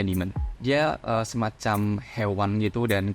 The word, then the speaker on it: daemon: Tulisannya daemon tapi bacanya demon.